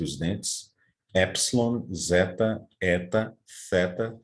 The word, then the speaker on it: theta: dentes, epsilon, zeta, eta, theta, também interdental, iota, kappa, lambda, mu, como um i francês, né?